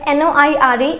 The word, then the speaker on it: noire: So in masculine it will be noir. In feminine it will be noir. Okay, so this is again an exception. So we have to keep the similar pronunciation for the color black. That is noir and noir.